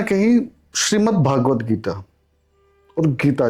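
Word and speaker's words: श्रीमद्भगवद्गीता: प्राय लोग सबसे बड़ी गड़बड़ी कहां करते हैं? नामो उच्चारण में कर देते हैं। जैसे लोग कहेंगे श्रीमद् भागवत गीता और श्रीमद् भागवत। देखिए श्रीमद् भगवत गीता और श्रीमद् भागवत महापुराण आपस में भिन्न है और इस विषय पर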